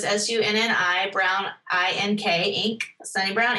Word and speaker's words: Sunni: It's Sunni Brown Inc., and it's Sunny spelled like Sunni. So it's Sunni, Brown, Ink, Inc., Sunni Brown Inc.